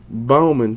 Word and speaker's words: Bauman: $9.99 for the Orioles a Bauman kind of rhymes with Bowman coming up right after